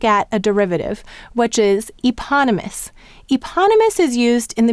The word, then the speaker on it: eponymous: suffix us as well now we have the e saying the long sound in eponymous where the P is going with the second syllable this is just very